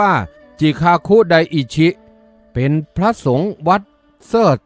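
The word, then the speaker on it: 慈覚大師: ชม เชย อาตมา หยวนหยวน ซึ่ง เป็น ภาษา ญี่ปุ่น ออก เสียง ว่า จิคาคุไดอิ ชิ เป็น พระ สงฆ์ วัด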